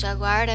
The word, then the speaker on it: jaguar: já guardo e o a pronúncia de falar de jaguaré a mesma coisa que o brasil né no português mas no inglês a gente fala de jaguar jaguar ok jaguar que onça ok